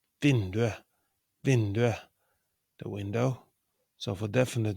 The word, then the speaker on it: vinduet: The pronunciation it's vinduet, vinduet, the window. So for definite neuter nouns, we don't pronounce the t. We write t, but we pronounce it e.